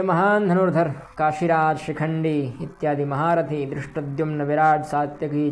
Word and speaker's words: शिखंडी: काशयश्च परमेश्वासः, शिखंडी, शिखंडी ये भी तालव्य शकार है, शिखंडी च महारथः।